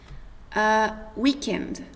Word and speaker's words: weekend: Eu coloquei ali como pronuncia sem o D do final, porque normalmente numa frase você acaba não pronunciando o último D. Mas você pode também. Então fica weekend.